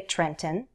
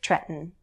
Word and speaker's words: Trenton: Jersey the Garden State most Americans will use a glottal stop when they say that capital city you could say Trenton but most will say Trenton Trenton New Jersey Dover